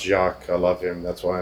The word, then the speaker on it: Jacques: I do know it's pronounced Jacques.